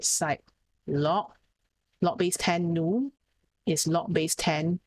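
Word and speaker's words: ν: this uh pronunciation of the pronunciation for viscosity symbol is nu okay like that feeling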